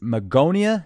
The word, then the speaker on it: Magonia: to go back to the Magonia is that how it's pronounced that's right um Magonia was a